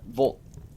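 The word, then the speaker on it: вот: It sounds like the word vote, except you spoke it through a straw. Try to speak it through a straw. Volt, almost, the way some people pronounce it.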